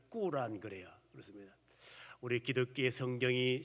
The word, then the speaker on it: 꾸란: 있어요 그렇습니다 이슬람교는 코란이 코란을 다른 말 본토 발음으로 람 그래 꾸란이 이슬람이 말은 알라시 복종하라